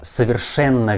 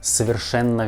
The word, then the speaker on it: совершенно: Совершенно верно, совершенно верно. And the word совершенно has two letters O, but you need to pronounce these letters like A. Совершенно, not совершенно. We pronounce like совершенно, совершенно.